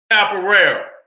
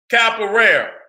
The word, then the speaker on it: Capoeira: Let me get that I want to pronounce it right. Capoeira.